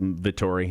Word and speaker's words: Vettori: Vettori, yeah.